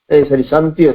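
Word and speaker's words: chantiers: अतल जगतर भंडार भितर चैंटियर्स गोटे फ्रेंच वर्ड शांतिय तार उच्चारण तार अर्थ हूँ वर्क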